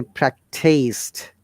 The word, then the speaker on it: practiced: pronounce the d correctly these the practiced practice again you know sound one more time practiced but these practice not practice is a noun but practice d you can see this underline